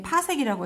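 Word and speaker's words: 파섹: 그다음 외워야 될 거 반드시 1핏이라고 적혀있고 이건 파색이라고 읽어요.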